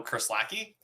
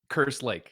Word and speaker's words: Kerslake: Some Kerslacki. Kerslacki. Yeah, that's me. Is it Kerslack? Is that how you say it? Kerslake. Kerslake. Oh, even different. It's got a lake in there.